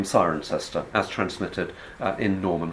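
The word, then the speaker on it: Cirencester: it isn't okay so why does it come to be called siren sister the answer can be dealt with simply by looking at ptolemy's form in the top left-hand corner and changing the o and the first eye around giving you kironium if you have kieronium that explains for english phonological reasons precisely the name sirencester as transmitted uh in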